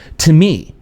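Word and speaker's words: τιμή: The original Greek word for honor is pronounced "timi."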